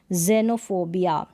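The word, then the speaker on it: xenophobia: शुरू में अगर एक्स आता है तब हम इसको ज प्रोनाउंस करते हैं, जैसे कि जाइलोफोन, जेनोफोबिया और जाइलोफोन।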